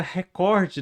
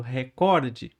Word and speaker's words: recorde: Aegando que os apresentadores da Globo, jornalistas, apresentadores esportivos, eles não pronunciam a palavra recorde da forma que está no vocabulário ortográfico da língua portuguesa, que é essa que eu tô falando, record, certo? Eles pronunciam record.